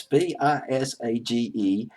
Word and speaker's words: Visage: And they brought in April Harris, Michelle, I got the pronunciation on YouTube as Visage. I prefer Visage, but it's Visage, and Idolus DeLoan.